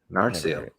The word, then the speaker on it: Narsil: This is one that I was curious about, this like Narsil. What? Narsil? Yeah. Narsil. I've never heard it pronounced that. It's pronounced that way in the movies.